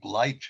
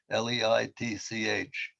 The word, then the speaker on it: Leitch: His real name, I mean, his full name is Donovan, I think Leitch it's pronounced, Leitch.